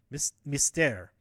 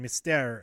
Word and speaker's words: Mystère: o'clock show of love I already mispronounced Mystere missed me stare seven o'clock show of love and then me stare at 9:30 and luckily